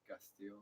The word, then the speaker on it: Castillo: Yeah, but I got used to saying Castillo because like that's how you're supposed to pronounce it.